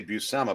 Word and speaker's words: Buscema: was, "That's John Buscema," or I should say Buscema, because I saw an interview with him and he finally heard him pronounce his last name.